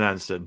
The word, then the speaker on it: Anston: and andison isn't it is it Anon is that is that how you say it's todwick an Anon yeah an anston yeah I should probably I